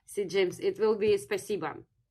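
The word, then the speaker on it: спасибо: Yeah, so to say thank you in Russian, see James, it will be spasiba. It's written with O, but in Russian it's pronounced with spasiba.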